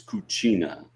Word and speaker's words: cucina: I think in Spanish it's Cocina, and in Italian it's Cucina.